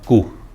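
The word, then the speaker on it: coup: इसका प्रोनाउंसिएशन कू होता है, पी का उच्चारण नहीं होता इसमें, ठीक है।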